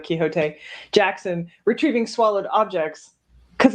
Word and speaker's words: Quixote: his name is they would have pronounced it quicksort in england instead of quixote jackson retrieving swallowed objects